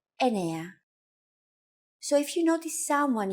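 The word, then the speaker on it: εννέα: Sometimes, though, especially in casual conversation, Greeks also use efta instead of epta, ochto instead of okto, and ennia instead of enea.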